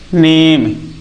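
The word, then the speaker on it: name: जैसे हमने लिखा एन ए एम ई इसे हम क्या पढ़ेंगे नेम क्या इस इ को हमने पढ़ा नेम हमने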